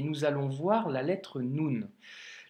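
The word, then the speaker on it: نون: Le Noun nous donne le son N que tu as d'ailleurs en français. Donc là, pour le coup, pour la prononciation, tu ne seras pas perdu. Et c'est le son N que tu retrouves dans novembre, par exemple. Tu vois la première lettre, novembre, ben c'est ce son-là, ok?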